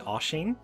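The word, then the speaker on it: Oisín: So we're going to start off with Oisin, which might look like Oisin, but it is actually Oisin.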